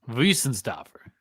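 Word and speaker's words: Weihenstephaner: No, but in German, I believe the W is pronounced with a V. Yeah, Wiesenstafner.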